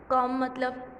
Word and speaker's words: comb: और third one है COMB, कॉम, यहाँ पर बी वर्ड साइलेंट है, यहाँ पर सिर्फ हो गया कॉम।